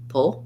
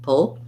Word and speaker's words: pull: do much vowel there i'm going to move as quickly as i can from the p right to the l pull pull you'll just hear there's a little bit of a schwa because it's a dark l so you can try just doing o keep the back of the tongue down and lift the front of the tongue oh pull staple staple